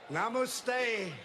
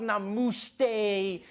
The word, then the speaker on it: namaste: People were coming on like, dude, it's not namaste, it's namaste. Who messes up namaste? It says namaste.